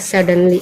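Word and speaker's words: suddenly: इसको पढ़ते हैं सडनली। एस से हुआ स यू साइलेंट है। डी से हुआ ड ये भी यहां पे साइलेंट है।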